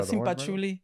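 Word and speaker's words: cempasúchil: A marigold, the simpachuli.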